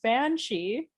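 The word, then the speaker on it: baobhan sith: Now that I know that the pronunciation, because it's spelled ban and then SITH, like the cat she was. So I'm like, no wonder it's pronounced banshee.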